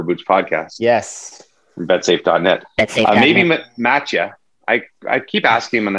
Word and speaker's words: Mattia: Maybe Matcha. I keep asking him and then I forget how to say it. Matcha. Matcha. M-A-T-T-I-A. Matcha. Right? Matcha. That's how they say it in Malta.